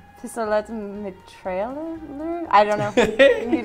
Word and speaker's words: pistolet: So this is the first card called Pistolet mitrailleur? I don't know. You do it. I believe it's pistolet. Pistolet. In French, you wouldn't pronounce that T at the end, right?